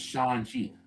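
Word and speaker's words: Shang-Chi: 30 bloody years wait it's not strong there's no g in mandarin sean sean there's no g in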